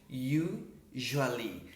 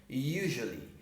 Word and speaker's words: usually: Usually. Se escreve com S, mas você fala esse CS